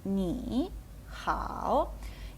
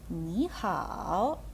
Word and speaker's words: 你好: Через це у нас перший склад змінюється на другий тон і звучатиме Це як ніхао так другий третій ніхао